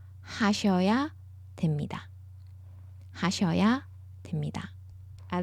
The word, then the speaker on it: 됩니다: 하셔야 됩니다. 하셔야 됩니다. I like to point this out pronunciation-wise. It reads that b. We don't say b, we say m. So it's more like them.